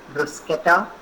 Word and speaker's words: bruschetta: This is another of their dish, which is spelled as bruschetta, but it's pronounced as bruschetta.